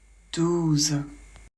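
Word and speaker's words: douze: s'arrête au Z voilà 12 O plus U ça fait ou le Z on le prononce toujours Z donc 12 ici pareil pas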